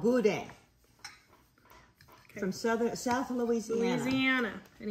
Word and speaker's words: boudin: It's spelled B-O-U-D-I-N, but it's That's pronounced good.